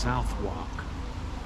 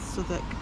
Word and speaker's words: Southwark: I think that's pronounced Southwark, isn't it? Southwark. Southwark. It's Southwark. With a bounty of £100 on their heads, the duo's crimes continued throughout 1735.